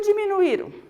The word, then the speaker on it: diminuíram: porque porque diminuíram ó como que nós falamos deminue serão é o caso aqui do hiato ee até quando a vogal ela fica sozinha na sílaba olhe lá deminue irão saúde saída e o que acontece quando esse ou esse ou ele fica sozinho na sílaba para marcar que ele vai ser falado mais forte vai o acento então tá aí ainda